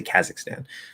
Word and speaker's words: Kazakhstan: not right it's like like a kazakhstan which i think some people say kazakhstan but i would say so that second a is going to be reduced to maybe it or ah